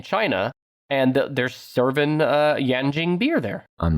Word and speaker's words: Yanjing: you number six it's yanjing with 1.9 global market share number six yan jing it's spelled y-a-n-j-i-n-g just like it sounds yeah just like it